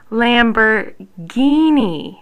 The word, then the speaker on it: Lamborghini: ghetto or spaghetti then for ghi you could just think about what you drove to class in tonight your Lamborghini right see you already know